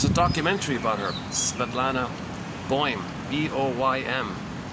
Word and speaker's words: Boym: I'm assuming that's how you pronounce it. B like boy, like B-O-Y. Like imagine boy and then put an M at the end. Boym. Or is it Boem? Is it one syllable or two syllables?